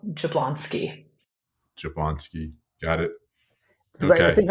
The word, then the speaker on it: Jablonski: appreciate you asking that it is pronounced exactly as it's spell jablonsky jablonsky got it I